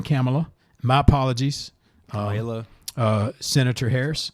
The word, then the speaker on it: Kamala: She says, just use the, grammatically speaking, the punctuation, comma, and then add la. Kamala. And so that helps me, because I'll be honest, I was saying Kamala.